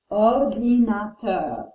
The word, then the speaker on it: ordinateur: It's a masculine word, so we pronounce it un or di na ter. Ordinateur.